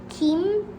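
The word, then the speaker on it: 김: Kim is like a seaweed. Kim, that's how you say it in Korean.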